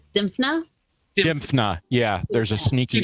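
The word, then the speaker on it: Dymphna: Dimphas. Is that how it's pronounced? Dimphna?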